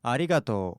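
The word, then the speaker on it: ありがとう: Regardez, je vais vous rejouer comment ça se prononce vraiment normalement. Arigato.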